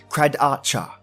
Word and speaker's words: Kradatye: McNamara and the credits are spelled kr a dat ye but pronounce cried Archer a true Australian Aboriginal